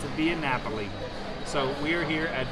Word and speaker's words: Via Napoli: the name for me michelle astor can you pronounce it for us and it's a via napoli so we are here at biennapoli in the